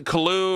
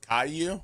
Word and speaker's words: Caillou: It's going to be much better than Peppa Pig or what's the Koo or whatever it is. Ku Caillou.